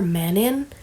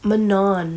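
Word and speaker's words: Manon: Mass like confirming it how does Manan make more sense than men in I was kind of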